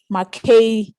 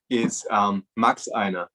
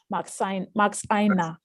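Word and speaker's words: Maxeiner: It's the same name, Makesa. Yeah, Noah, am I pronouncing the name right? It's Max Einer. Max Einer. Wow, exactly.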